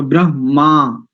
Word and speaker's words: ब्रह्मा: बाद में ब र यानी ब पहले र बाद में तो ब्र जैसे प्रच ऐसे ही ब्र और उसमें देखि आगे इसके बाद तो हा पहले और आ बाद में तो ब्रह्मा ऐसा इसका उच्चारण करें इसके आगे के विषय